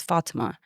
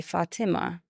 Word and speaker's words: Fathima: supposed to be said because I grew up in an Arabic country where it's Fatima. But I'm an Indian Indian Muslim, so we say Fatima.